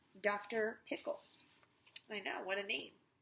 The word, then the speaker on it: Pickle: pickles I know what I mean all right actually his name was dr. pickle with the accent on the second syllable foundations but that wasn't why everyone called him dr.